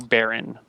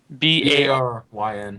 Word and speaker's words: Baryn: The next 2 days go uneventfully, and you get to Barron. Barron is again a small town located on the side of one of these fjords. Population 600, maybe. Can you spell it? B-A-R-Y-N.